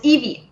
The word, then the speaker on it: Yvi: No, and because my first name is, which is spelled, the French version, my nickname always was Evie, which in that case you spell YVI.